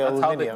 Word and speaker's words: aluminium: They say aluminium.